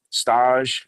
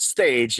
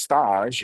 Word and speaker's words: Stage: We wish Stage, not Stage. If people don't get confused, it's not Stage Deli. You're not going to find a double-decker pastrami corned beef sandwich there. It's pronounced Stage, as in when chefs apprentice in other kitchens. They call it staging.